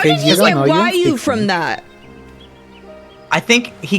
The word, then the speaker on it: Raoille: Go ahead and pronounce it for me. Raolle. Raoille. Raoi. Raoul? Raoul? Raoul? It's pronounced Wyu.